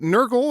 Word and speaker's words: Nurgle: if I'm wrong, it does say here that Nurgle, am I pronouncing that right, Nurgle?